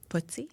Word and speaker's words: FTSE: Footsie? Yes, that's how you like when little kids pronounce it.